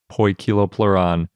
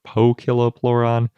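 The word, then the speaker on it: Poekilopleuron: think sometimes we pronounce poikiloploron kiloploron or pokiloploron but I think the most accurate way to say it is probably poi kiloplaron even though it's spelled Poe anyway before we get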